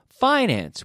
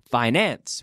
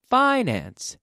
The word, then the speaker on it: finance: the pronunciation of Finance we put the emphasis on the first syllable finance we don't say finance we say finance data data finance finance